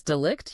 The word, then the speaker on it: delict: mentioned this term uh delict is that is that how you say it yes delict yeah delict and and that's